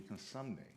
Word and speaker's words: Cosumnes: in a general session, he said, the proper way to say this college would be Cosumnes.